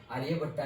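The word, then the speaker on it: आर्यभट: और से 3.14 ये आर्य भट्टा ने दी थी आर्य भट्टा नहीं बोलेंगे आर्य भट्ट है ओके बट इंग्लिश में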